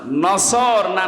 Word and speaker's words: নাসরুন: এই জন্য যারা এই সূরাটা পড়তে গিয়ে সোয়াদ না বলে সিন দিয়ে উচ্চারণ করেন, আপনার কিন্তু নামাজ হবে না।